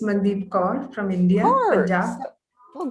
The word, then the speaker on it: Mandeep Kaur: Did I pronounce it correctly? Yes, ma'am, it's Mandeep Kaur from India, Kaur.